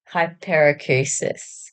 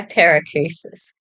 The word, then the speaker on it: Hyperacusis: You know how to pronounce it? Okay, this is my daughter. Hyper. I Hy- think. Hyperacusis. Oh, yeah. Hyperacusis.